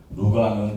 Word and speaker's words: 루카: 틀린 건는 아니고 홍병철 루카 라고 이렇게 정식으로 명칭을 하고 있고요 루가는 그리스의 발음이고 그리고 누가라 표현을 하고 있습니다 그 개신교에서 말하는 누가 복음 할 때 누가 그러니까 루카 루가 누가가 다 같은 이름이다 것을 참고로 보충 설명해